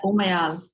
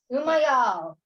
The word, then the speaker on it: Umayal: Did I pronounce that right? Yeah, Umayal. Umayal.